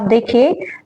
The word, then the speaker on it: the: तो आप देखिए, जो भी आपकी नाउन होगी, किसी भी नाउन से पहले जब कोई वोवल आ जाता है तो उसके प्रोनाउंस में आप दी का यूज करेंगे। क्या करेंगे? दी। और जहां पर कोई आपकी नाउन है और नाउन से पहले आपका नाउन का जो फर्स्ट लेटर है वो आपका कोई कॉन्सोनेंट है, तो आप वहां पर द को प्रोनाउंस करेंगे द।